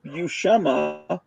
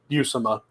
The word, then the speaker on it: Buscema: I learned the pronunciation because I saw that video, How to Draw Comics the Marvel Way, where Stan Lee is with Buscema, and he introduces him as that, and Buscema doesn't correct him. So I assume they know, and that's how I pronounced it.